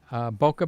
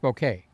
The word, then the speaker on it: bokeh: Boca Bashudo is more like it, but it used to be pronounced Bokeh. Then they went to Boca. Like Boca Raton, Florida, West Palm Beach, Boca Raton, Deerfield Beach, all those cities up the coast. But years ago, it was Bokeh, okay? It's like ISO used to be ASA.